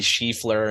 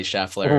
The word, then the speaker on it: Scheffler: It says Scotty Schieffler instead of Scotty Scheffler, right?